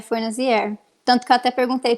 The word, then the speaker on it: Fornazier: E o que fala de verdade é Forinade.